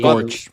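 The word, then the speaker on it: GOARCH: It's pronounced Gorch.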